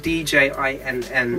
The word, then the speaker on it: Djinn: Djinn is spelled D-J-I-N-N.